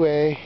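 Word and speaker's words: Huet: it was crystal balue way in net and when your name should rhyme with a net but doesn't as is the case with the way then instead his name is the way cuz he gives the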